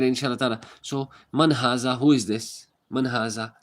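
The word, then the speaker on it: هذا: Haza, pronounced haza, but is written without the first alif.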